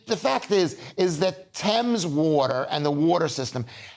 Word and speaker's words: Thames: that it's a 1.6 million pounds a year Thames Thames not Thames waterboards your shows I'm British just like you I pronounce it Thames yeah blames her leaking pipes